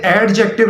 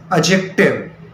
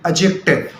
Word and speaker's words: adjective: इसे एडजेक्टिव नहीं पढ़ना, it's incorrect pronunciation. The correct pronunciation is एडजेक्टिव. ADJECTIVE. और डी और जे जब पैरेलल आ रहे हो, इकट्ठे आ रहे हो, तो डी बिकम्स साइलेंट. एडजेक्टिव.